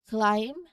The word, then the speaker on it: climb: So for the letter B, the key is to watch out for it late after an M at the end of the word or before a T.